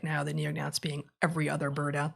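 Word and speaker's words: neognaths: There's paleognaths and there's neonaths with a silent G in the middle of both.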